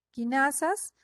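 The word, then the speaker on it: cinasa: proteínas que se llaman quinasas y ciclina se escribe sin asa pero lo pronunciamos como quinasa con k quinasas dependientes de ciclina porque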